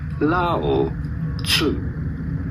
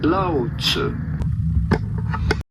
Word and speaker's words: Lao Tzu: How do you go about pronouncing his name? Lao Tzu. Lao Tzu.